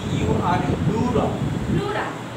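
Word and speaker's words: pleura: ই ইউ আর প্লুরা প্লুরা পি পি উচ্চারণ হবে না হ্যাঁ অবশ্যই হবে প্লুরা প্লুরা প্লুরা প্লুরা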